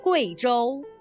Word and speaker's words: Guizhou: In the name of this province and its capital, the U plus I is pronounced wei, not we. Listen. Guizhou, Guiyang.